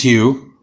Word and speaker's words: Hugh: your last thing correctly my first name is hugh my last name is your first name is you h-u-g-h last name is that is right okay and mr hugh uh beside the medicare do you have a